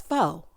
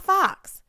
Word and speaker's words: faux: It's faux. Faux. Not fox.